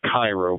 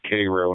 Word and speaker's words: Cairo: tip of Illinois is called Cairo looks like Cairo but they pronounce it Cairo and it's a really decrepit town at the